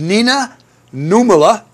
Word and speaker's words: Nina Nummela: We have Nina Nummela. Do I get the pronunciation right?